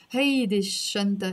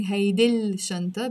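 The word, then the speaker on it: هالشنطة: You notice I'm not saying hey dil shanta because the sheen here is a sun letter. So I have to drop the l sound and pronounce it hey this shanta.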